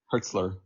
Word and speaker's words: Hürzeler: how do you feel about Fabian is it herela is that how you pronounce it h how's it said herzler herzler um as as the Brian's new manager